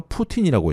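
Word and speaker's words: poutine: 다음은 캐나다 맥도날드에 가보신 분들은 아실 텐데 캐나다 하면은 대표적인 음식 중에 하나가 푸틴이라고 있습니다. 이 사실 발음이 러시아 푸틴과 똑같은 발음인데요. 스펠링이 P-O-U-T-I-N-E라고 쓰는데 이 캐나다 중에서도 특히 프랑스어를 하는 프렌치 캐네디언 지역에서 인기입니다.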